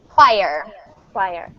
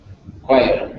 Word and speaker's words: choir: CH is ch, but if the word comes to us from Greek origin, then it is k. So it sounds like, kind of like this. Choir.